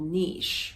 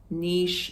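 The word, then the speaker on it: Niš: like no I s but they pronounce like with an H so if you want to look it up on the map Niche Serbia it's the southern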